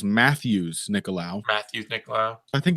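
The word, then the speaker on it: Matheus Nicolau: I think this is context clues because we not too long ago learned that Matthias Nicolau is Matthews Nicolau.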